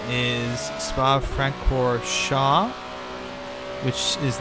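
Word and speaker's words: Francorchamps: famous Spa circuit his full name is Spa Frank core Shaw which is not pronounced Frank or Champs there's a before in the US if you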